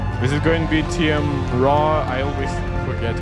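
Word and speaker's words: TM Roh: Please give a warm welcome to CEO and head of device experience division, TM Row. Oh, TM Row. Okay, I didn't mispronounce it too much. At least I didn't say Tim.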